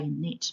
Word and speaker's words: knit: like the knitting needles K is a silent letter in the word knit words that have silent